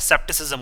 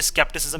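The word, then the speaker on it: skepticism: अब देखिए यहाँ पे क्या है सेप्टिसिज्म, और इसकी एक्चुअल स्पेलिंग क्या होती है स्केप्टिसिज्म इसको बोला जाता है।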